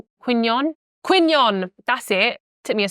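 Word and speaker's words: Quy Nhơn: no how do you say it n Quon quinon that's it tip me a second I'm currently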